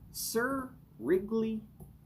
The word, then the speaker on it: Cirigliano: Sir, as in, sir, yes, sir.